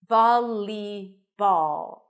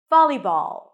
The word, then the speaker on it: volleyball: some speakers V but it's not a dark L as it is in the word ball listen to the difference